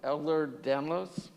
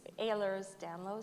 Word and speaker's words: Ehlers-Danlos: with a couple facts okay so you have elder danlos is that how it's pronounced uh it's ehlers-danlos syndrome okay like air work all right so